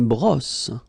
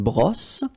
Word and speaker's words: brosse: All right, then une brosse. Remember, don't insist on this final brosse.